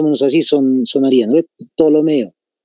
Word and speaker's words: Ptolomeo: Entonces, PT, Ptolomeo, más o menos así sonaría, ¿no? Ptolomeo. Se pronuncia directamente Ptolomeo, pero se escribe con la P.